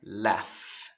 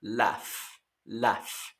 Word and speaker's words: laugh: Ok, aquí un tip de pronunciación con la palabra laugh. Aquí, si se dan cuenta, laugh. Primero, la GH suena como una F. Y la U no se pronuncia.